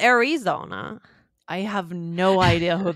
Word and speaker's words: Arizona: It's not an E sound. It's more of an sound, like a schwa sound.